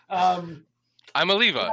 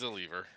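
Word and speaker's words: Imaleafa: He's a lever. It's like Tua's last name, where and pronounce an N, even though there's not an N in there.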